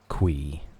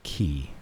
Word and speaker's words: Qi: I say key. I know a lot of people say chi, and I feel like that would also be correct. But Quee does not make any sense to me at all.